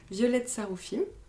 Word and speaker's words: Violette Saroufim: j'ai le plaisir aujourd'hui de recevoir avec moi violette saroufim ça se prononce bien comme ça oui cool et estine